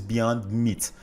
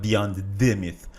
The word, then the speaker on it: Beyond Meat: the correct way of this company is beyond meat not beyond the myth I know that this